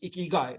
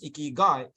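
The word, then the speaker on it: 生き甲斐: not as soft so in Japanese when they combine the words sometimes they soften the and the the new word that comes in so in this case ikikai becomes ikigai essentially if you literally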